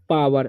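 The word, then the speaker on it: power: इसे पढ़ते हैं पावर, ओ का उच्चारण जो है यहाँ पर आ हो रहा है, ठीक है।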